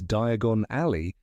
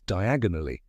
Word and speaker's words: Diagon Alley: When Harry uses Floo powder for the first time in Chamber of Secrets, he pronounces Diagon Alley as diagonally and ends up in Knockturn Alley.